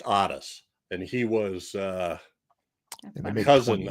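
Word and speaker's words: Ottis: makes Otis, his Otis, which was spelled with 2 T's, OTT. Oh, there's he had an Otis. Oh, that's funny. And then it was pronounced Otis, and he was a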